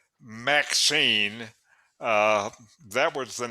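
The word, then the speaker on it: MXene: what's that well uh the way they pronounce it is maxine that was the name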